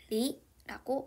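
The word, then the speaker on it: 梨: 기억해 둬야 될게 있죠 중국에서 배는 리라고 발음합니다 근데 헤어지자 이별하다라는 표현에 리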